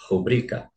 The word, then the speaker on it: rubrica: que é roubo né Ela não é uma palavra proparoxítona ela é paroxítona então é rubrica a letra B ele